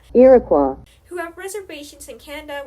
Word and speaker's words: Iroquois: that make up the Iroquois Confederation, sorry, I definitely mispronounced that, Iroquois, who have reservations in